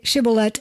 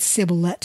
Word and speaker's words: Shibboleth: So yes, say Shibboleth, and they said Sibboleth, for he could not pronounce it right.